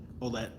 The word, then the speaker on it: Olet: Like it's because the OU sound is somewhere between the O and a U. But yeah, and people always think that the double consonant at the end is silent, but it's not, because it has an E on the end of it. It makes it a hard T sound.